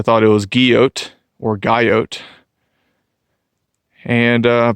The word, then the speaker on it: Guyot: it was guillot or gaiot and uh peter says it's geo with a silent t as i kind of suspected since it's a french name so i don't know